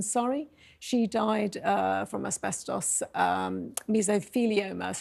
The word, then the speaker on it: mesothelioma: She died from asbestos mesothelioma, is how you say it.